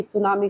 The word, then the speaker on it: tsunami: अब देखिए सुनामी का उसमें टी आपका साइलेंट रहेगा, जापानीज वर्ड है।